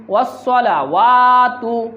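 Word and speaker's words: والصلوات: লিল্লাহি ওয়াসসালাওয়াতু, এখানে অনেকে ওয়াসসালা বলে, ওয়াসসালা না, এটা হচ্ছে ওয়াসসালাওয়াতু।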